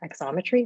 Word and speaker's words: Xometry: and he is the founder and ceo of exometry is that the correct pronunciation it's perfect geometry like obviously yeah perfect